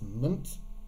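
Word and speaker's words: -ment: the suffixes down here meant he said not pronounced meant it's mint and we've got ist ship it's a very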